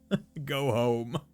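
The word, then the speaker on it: Goho-M: a go home instead it took me a while to realize that that's how you're supposed to pronounce this item name because I was always just like oh what's a goho m M and it's like oh it's you're meant to say go ho go home uh yeah it's like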